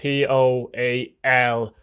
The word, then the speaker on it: Toal: Now, number 4, I've gone for a Derry City central defender, Owen Toal, or Owen Toyle. I'm not sure how to pronounce it. I presume it's Toal. It's Toal.